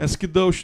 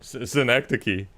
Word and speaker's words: Synecdoche: Last of Us season 2 episode 2, and Skidosh, New York. Synecdoche. Wait, I kind of looked up how to pronounce it.